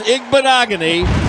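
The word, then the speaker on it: Igbinoghene: goal and it was the newly arrived Noah igbenogony nailed it that is the way it's pronounced yeah just throw a bunch of letters and consonants in there it's igbanogony picked up by the Cowboys defender on the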